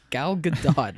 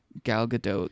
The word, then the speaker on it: Gal Gadot: And she was talking about how Gal Gadot said her name like for everybody at the table, and I'm pretty sure you subtly pronounced the T.